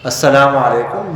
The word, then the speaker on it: السلام علیکم: ورنہ اگر السلام علیکم کہیں لام کو ختم کر دیں اس کا معنی بدل جاتا ہے. اس کا معنی ہے تم پر لعنت ہو.